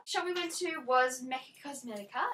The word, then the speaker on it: Mecca Cosmetica: I think that's how you say it, because it's got an A on the end, not a S. So I don't think it's Mecca Cosmetics, but I call it that.